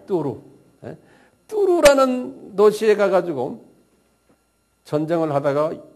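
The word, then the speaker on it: Tours: 우리 저 불란서 빵집 뚜루 뭐예요? 그 비슷한 발음이에요. 뚜루.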